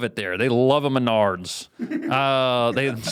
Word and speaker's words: Menards: I was saying Minards and people were laughing at that. I thought it was Menards. Uh, it is Menards and I don't really know even what.